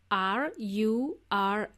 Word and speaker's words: rural: Okay, so the word rural was hard to pronounce for my friend. It is spelled as R-U-R-A-L, but it sounds like there is an O somewhere in there, rural.